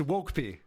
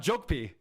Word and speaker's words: Wokep: Just total hack It's Wokep. It's W. Notice it's not jokep. It's Wokep.